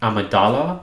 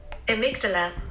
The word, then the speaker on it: amygdala: part of your brain called the amidala let's get the pronunciation amygdala amygdala totally butchered that that's completely so there's